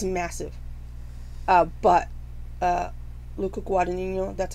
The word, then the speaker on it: Guadagnino: But Luca Guadagnino, that's how you say it, it's very close.